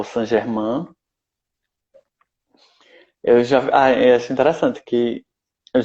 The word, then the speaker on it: Saint Germain: Eu acho interessante que eu já vi muita gente falar Saint Germain, é uma pronúncia bem americanizada, só que eu não consigo. Para mim é Saint Germain, que para mim é francês.